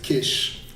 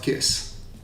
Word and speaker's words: Kiss: It's my family name, and it means something completely else, and you would pronounce it Kish, like an SH, not Kiss.